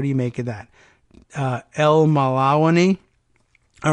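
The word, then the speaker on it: Elmallawany: By Deanna K., this last name, okay, El Malawani. I'm guessing at that pronunciation, you can tell it's L-E-L hyphen M-A-L-L-A-W-A-N-Y. What do you make of that? El Malawani.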